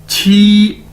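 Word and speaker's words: 七: Chinese के अंदर क्यू असर को हम 6 के तौर पर प्रोनाउंस करते हैं, जिस तरह इंग्लिश में CH होता है, तो इसी तरह उर्दू में 6। ठीक है, तो क्यू भी 6 की तरह प्रोनाउंस किया जाएगा। तो QI मीन क्यू आई को कैसे प्रोनाउंस करेंगे? छी, की नहीं, छी, छी, छी मतलब 7।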